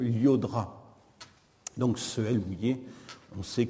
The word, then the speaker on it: Llodra: ou encore celui du champion de tennis d'origine catalane je crois à michael avec deux ailes au début du mois llodra donc ce billet on